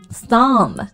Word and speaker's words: thumb: 类似的词还有很多，like 大拇指，thumb， right，梳子怎么说？